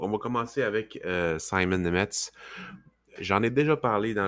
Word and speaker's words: Nemec: On va parler de Simon Nemec, en tout cas, Nemec, mais on le prononce Nemetz.